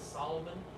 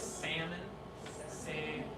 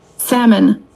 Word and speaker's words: salmon: said what would you like and she said Solomon and she's an American right and I said